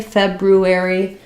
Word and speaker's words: February: so January in February we do have an R here most of the time though native speakers drop that R so it's correct to say February but you'll often hear native speakers just say Feb u a e so notice both